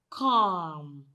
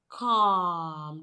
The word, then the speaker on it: calm: So when you blend them together, you have calm. The L in this word is silent.